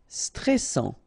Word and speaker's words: stressant: Stressant. Okay, final T not pronounced, and then A-N-N.